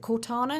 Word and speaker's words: Cortana: about was they've got rid of is it cortana is that how you pronounce the name yes why do you think